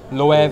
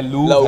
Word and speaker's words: LOEV: The main thing is, I think you spell it anyhow, it's love at the end of the day.